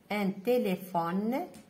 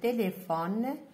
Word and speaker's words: téléphone: Bonjour mes chers élèves, on va lire des mots: une tomate, une auto, une tortue, un stylo, une pomme, un téléphone, PH ننطقها F, un téléphone.